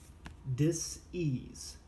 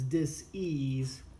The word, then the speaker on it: dis-ease: Okay, so this concept, this dis-ease concept, is huge in chiropractic, and you notice that I wrote it and I pronounce it as dis-ease and not disease, which is spelled the same.